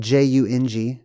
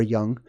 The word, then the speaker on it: Jung: the human which is spelled j-u-n-g called Jung or young the human Collective unconscious